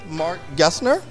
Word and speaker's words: Marc Gessner: mcdonald here again with mark gessner from uh did i pronounce that correctly you did you got it